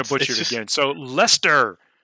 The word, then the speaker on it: Leicester: butcher it again so lester leister i googled it i actually googled the pronunciation because i'm pretty sure this leicester like you just pronounced it leicester l-e-s-t-e-r yeah this is like you